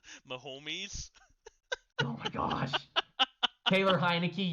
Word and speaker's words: Mahomes: For my sanity, please pronounce Mahomes correctly. Mahomes.